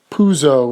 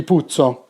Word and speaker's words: Puzo: mario puzo's name but in terms of how you pronounce it take away is its puzzle in america p-u-z-o if indeed as andrew says it had two z's it would be putso now i actually do pronounce